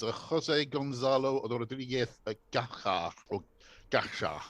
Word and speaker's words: Gacha: It's a Jose Gonzalo Rodriguez Gacha, or Gacha, I think it's pronounced Gacha. Drug Baron, what he said, was killed by Colombian police on this day.